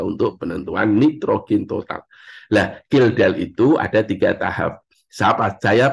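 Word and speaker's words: Kjeldahl: nitrogen food is the kildal itu sampai di dalam kurung kildal ka saya nanti anda bacanya kejeldal Ya itu bacanya kildal lah Salah satu industri yang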